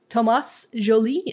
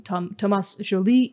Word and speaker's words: Thomas Joly: His name is Thomas Joly, I guess is how you pronounce it in France.